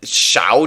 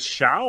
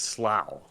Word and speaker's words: Shough: Is it Shao? I thought it was Slough. It's Shough. So I don't think there's an L in there, buddy. Right, there's unless the L is silent.